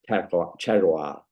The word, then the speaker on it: terroir: It's a French word. So say it again. It's terroir. I can't remember. It's like, when the word territory, think of the word territory, right?